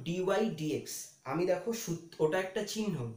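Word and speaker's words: dy/dx: একটা জিনিস আমি বলে দিই, অনেকেই একে ডিওয়াই বাই ডিএক্স উচ্চারণ করে, ডিওয়াই বাই ডিএক্স উচ্চারণ হবে না, তোমরা একটু ভালো করে এটা মাথায় রাখবে, এটার উচ্চারণ ডিওয়াই ডিএক্স।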